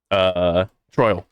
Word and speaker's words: Troil: Maybe I mispronounced his name. Troil. Excuse me, not Troll. Oh, Troil.